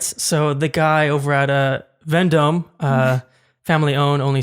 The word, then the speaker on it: Vendome: So the guy over at Vendome, family owned, only 6 more locations in LA. Do you work for Vendome? I do not work for Venmo. Vendome.